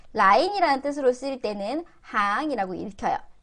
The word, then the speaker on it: 行: 그래서 얘를 이럴 때 줄이라는 뜻으로 쓸 때 라인이라는 뜻으로 쓰일 때는 항이라고 읽혀요. 라인이라는 뜻으로 쓰일 때 항이라고 읽히고요.